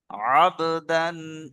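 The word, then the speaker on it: عبدا: দেখেন এখানে কি আছে, আবদান ইযা সাল্লা। সবাই বলেন, আবদান ইযা সাল্লা। আচ্ছা, এটা আমি বানান করি, দেখেন আইন বা জাবার আব, দাল আলিফ দু জাবার দান, তাহলে কি হবে? আবদান।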